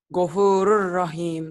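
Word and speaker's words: غَفُورٌ رَحِيمٌ: Dibacanya nyamber ke huruf yang bertasdid. Iya, gimana bacanya? Gopuro masukin ke R jadi Ghafurur rahim.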